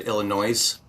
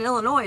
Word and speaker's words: Illinois: And the S in Illinois is silent.